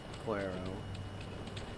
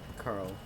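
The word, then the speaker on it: Coeurl: Quero. I always try and say it how it's spelled, but I mean, it turns out that like it is phonetically just curl, so be safe.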